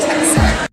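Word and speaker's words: Teksen: It's spelled T-E-K-S-E-N. Texan.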